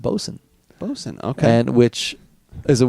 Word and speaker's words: boatswain: Bosun is the way it's pronounced.